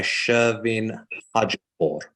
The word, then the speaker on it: Shervin Hajipour: months, and that is the song Baraye by Shervin Hajipour. Is that correct as well, the pronunciation, Katy?